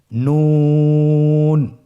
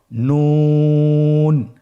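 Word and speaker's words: نون: নুন হরফটি উচ্চারণের ক্ষেত্রে অবশ্যই পাতলা করে উচ্চারণ করতে হবে এবং তিন আলিফ টেনে পড়তে হবে। আপনারা আমার সাথে বলুন নুন। আরেকবার চেষ্টা করুন নুন।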